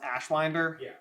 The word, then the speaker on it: Ashwinder: Is it pronounced Ashwinder?